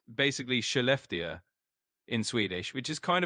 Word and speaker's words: Skellefteå: You're pretty close on the pronunciation. It's basically Skellefteå in Swedish, which is kind of a mouthful, but you can think of it as Skellefteå.